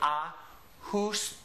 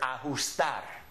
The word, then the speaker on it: ajustar: The letter is called Jota, and it's always an H sound. So I'm pronouncing this as if it's an H. So I say ajustar.